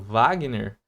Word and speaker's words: Wagner: Isso aqui tá produzindo som de, mas em outros casos, como por exemplo Wagner, esse aqui tá produzindo som de V, ó.